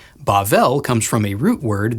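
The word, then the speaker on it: בבל: Babylon in Hebrew is pronounced Bavl and is sometimes translated Babel. Bavl comes from a root word that means to mix or confuse.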